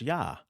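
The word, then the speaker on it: יה: that I do know the poetic form when it's yod hey we do know it's pronounced yah that we do know okay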